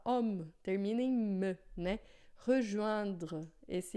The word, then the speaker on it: rejoindre: Esse E aqui, quando ele não tem acento, quando ele não está acompanhado de alguma coisa assim que faz com que ele seja pronunciado, ele não existe em francês.